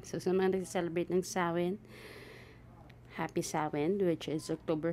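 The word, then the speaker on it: Samhain: sa mga ah nagce-celebrate ng samain Paano ba bigkasin yit saen so sawin so sa mga nagce-celebrate ng sawin happy sawin which is October 31 to November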